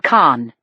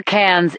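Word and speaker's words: Cannes: I told him she learned about the killings when the ship docked last week in Khan France. I know where cans is. Jacobe said pronouncing it in the plural.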